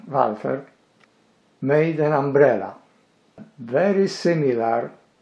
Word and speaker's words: Walther: German arms manufacturer Walter or properly pronouncing welfare made an umbrella very